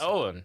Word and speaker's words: Eoghan: Yeah, so they were like, Ogan or no, this kind of thing. Yeah, is it Owen? Yeah, yeah. Oh, is that, is that's how you pronounce it.